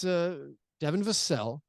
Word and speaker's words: Vassell: Vassell. It's not lords and vassals and serfs. No, it's Devin Vassell.